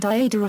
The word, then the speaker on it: Iadera: The accent was on the first syllable in both Iada and Iadara forms, which influenced the early